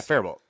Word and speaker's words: Faribault: Yeah, Faribault. Yeah. You just don't say the T.